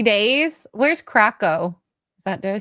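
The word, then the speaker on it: Kraków: Where's Krakow? Did I say it right? Krakow? Krakow? Cacao.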